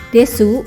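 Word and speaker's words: です: homebase tega Mio kakimas bunyi uu pada akhir kalimat desu dan masuk itu melesat atau hilang maka menjadi Des dan Mas saja contoh lain pada kosakata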